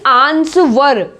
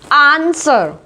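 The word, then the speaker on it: answer: Next देखिए आंसर, आंसर बोल रहे हैं यहाँ पे, है ना, यानी आंसवर, आंसवर नहीं बोल रहे हैं, W का साउंड कहीं से कहीं तक नहीं है, इट्स आंसर।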